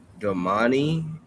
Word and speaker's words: Domani: Domani, I think is how you say it.